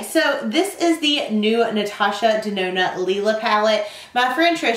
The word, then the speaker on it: Natasha Denona: get started okay so this is the new natasha de Nona Lila palette my friend Trish show from a